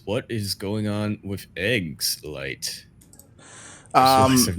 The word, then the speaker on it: eGGz: eGGz. No, not S. eGGz.